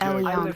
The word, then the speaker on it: Elion: Elion, three syllables.